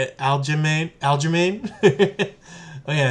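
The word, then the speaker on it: Aljamain: Sterling I think that's how you say it Alain Alain oh yeah it's Aline let's take Alain and uh let's go back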